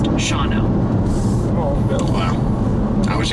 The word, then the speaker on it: Shawano: Quick tip from your viewers, Shawano is pronounced Shawno.